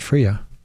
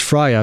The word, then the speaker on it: FRIA: It's pronounced Fria, not Fria. It's Fria because the I is for identification just like GIF is GIF because it's graphical.